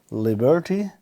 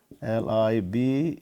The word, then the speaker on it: liberty: Then last one is liberty, Liberty. This is liberty. So stress in the first, liberty. So we have 3 syllables, and this just lies on the first.